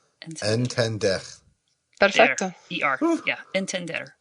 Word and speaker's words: entender: Entender. Entender. Perfecto. ER. Yeah. Entender. Entender. 3 syllables.